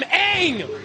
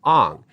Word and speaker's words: Aang: names were completely butchered the main character the Avatar is named Aang in the show and three seasons in the show it's always Aang however in the film Shyamalan decided to pronounce it on why would you do that not only did he